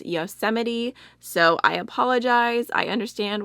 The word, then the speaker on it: Yosemite: This shade right here that I keep calling Yosemite, I got so many comments about how it's pronouncing it wrong, and apparently it is Yosemite, so I apologize.